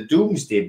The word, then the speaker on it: Domesday: It might be Domesday, but it's pronounced the Doomsday Book.